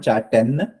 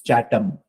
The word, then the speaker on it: Chatham: It's not Chatham. It's Chatham. Okay.